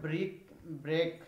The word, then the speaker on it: break: The word break rhymes with option 1 creek, option 2 greek, option 3 quake, option 4 prick. Yes, the word break it will rhyme with quake.